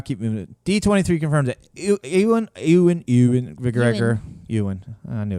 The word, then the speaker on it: Ewan: D23 confirmed that Ewan McGregor.